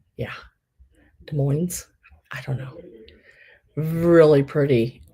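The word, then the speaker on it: Des Moines: there at the bottom do not pronounce the s De Moine de Mo yeah de Moes I don't know really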